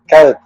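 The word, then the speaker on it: kağıt: Coat.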